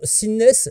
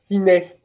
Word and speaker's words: Synest: C'est association Sinnes, je prononce bien ou pas? Alors, on t'a pas bien entendu, si tu peux parler un petit peu plus fort. C'est ciné. 6 mai. Non, ciné.